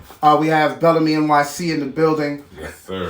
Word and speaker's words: Belleme: That's what how do you say it? I say it Belleme. Belleme. Yeah. Just like that, Belleme. Just Belleme. Like Bill Bellamy.